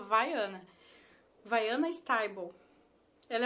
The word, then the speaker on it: Viana: Se escreve Viana o nome dela, mas se fala Vaiana.